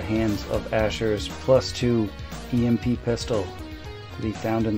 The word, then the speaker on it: EMP: ground at the hands of Asher's plus two EMP pistol that he found in the basement, I'm going to bed. It's pronounced emp.